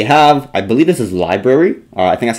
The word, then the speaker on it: LBRY: And then just looking at a couple of the different options that we have, I believe this is Library, I think that's how you say it, or LBRY.